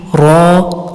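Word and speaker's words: راء: next letter is raw you have to read raw a little bit bold raw now the makharaj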